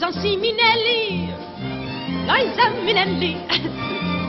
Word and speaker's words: Liza: Just make it a happy, leave it a Liza Winfrey, not Lisa Winness, cause Lisa Winness holds snubs in the instead of S, lines and Lisa triples me, see Liza?